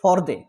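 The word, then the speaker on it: Fordow: ফোরডে ইস্পাহান তাদের উচ্চারণ ফরদে।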